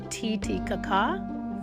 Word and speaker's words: Titicaca: It's pronounced Titicaca.